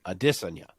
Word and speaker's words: Adesanya: Whenever he's on Ariel, they at some point will broach the topic of how his name is actually Adesanya.